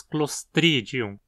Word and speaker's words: Clostridium: Aqui a penúltima sílaba di também não tem requisitos para levar o acento e dizemos Clostridium.